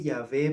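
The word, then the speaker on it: Yahweh: pronunciación los expertos indican los expertos en teología han indicado que ya ve es decir entre la ley y la h de agregarla a wv la ley y al final h ya ve la web ya ve es la mejor pronunciación incluso indican que esa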